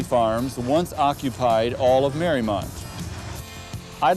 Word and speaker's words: Mariemont: Mariemont is pronounced Mariemont and was named after Mary Emery's estate in Newport, Rhode Island.